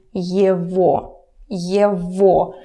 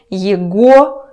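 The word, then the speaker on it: его: thing in speaking so just remember that this one is ye vo okay somewhere near write the pronunciation because if you say yaguo it would be very funny so ye vo okay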